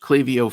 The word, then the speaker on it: Klaviyo: It is pronounced Clavio, folks.